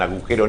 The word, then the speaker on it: agujero: Saber lo que es un agujero negro y decir agujero, no agujero. Agujero, tiene una G ahí y los locutores la pronunciamos.